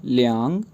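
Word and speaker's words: 两: जी, इसके बाद वर्ड है LIANG थर्ड टोन के साथ, ये प्रोनाउंस होगा लियांग, लियांग, लियांग।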